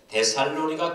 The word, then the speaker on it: 데살로니가: 첫 번째로 데살로니가 교회는 믿음의 기적이 있었습니다. 믿음의 역사가 풍성했습니다. 데살로니가 지역은 전형적인 헬라 지역입니다. 이성적이고 합리적인 문화가 지배하는 철학적인 중심 도시가 데살로니가입니다. 정확한 발음은 데살로니가. 예, 정확한 발음은 데살로니가입니다.